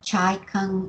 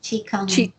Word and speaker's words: Qigong: And what about Chai Kung? Is it Shibashi? Is that how you say it? Qigong.